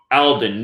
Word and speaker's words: Alden: his full name Neil Aidan Armstrong equals 201 and that I'm actually saying his middle name wrong Alden Neil Alden Armstrong Neil Alden Armstrong with